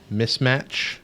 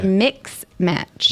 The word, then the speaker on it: mismatch: about to ask you how do you say that word mismatch mismatch or mix match mismatch because it's not a match and a mix match doesn't make any sense because it won't match no hold on mix match